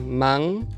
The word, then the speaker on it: man: as in "njente" (nothing); the velar nasal [ŋ], which is used at the end of syllables, as in the word "man" (hand). So that which is written with a final <n> is different from Italian which would read it as [n].